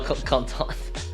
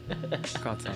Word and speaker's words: Quentin: Honestly, it's a name only pronounceable in French. Oh, Kantan. I was asking if I said it right. Yeah, Kantan. Yeah. Quentin, yes.